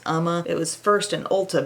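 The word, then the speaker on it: Uoma: brand it's spelled u o m a it's pronounced Umma it was first an Ulta brand and I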